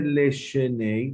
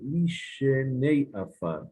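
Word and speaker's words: לִישֵׁנֵי עָפָר: No se dice Leshenei para dos, dice Lishenei. No para dos, perdón. Que están Lishenei, los que están durmiendo. Es el Leshenei, sino Lishenei Afar, como decimos en la Amidad.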